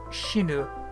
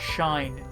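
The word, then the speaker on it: 死ね: uh it's it's conjunction of the verb shinu to die uh with the pronunciation sounding like shin uh not the English word shine uh the phrase can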